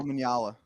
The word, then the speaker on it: Omanyala: How you pronounce his name? Fernando Omanyala. Omanyala.